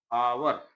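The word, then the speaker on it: hour: और ये आपका आवर क्या है? आवर, इसका उच्चारण आ से शुरू हो रहा है इस शब्द का, तो इसके पहले हम लोग एन लगाएँगे, ठीक है ना?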